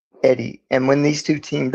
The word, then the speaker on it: Eyde: Now, there was a man named Christian Birkeland, and there was a man named Sam Eddy, which is spelled weird. It was EYDE, Eddy.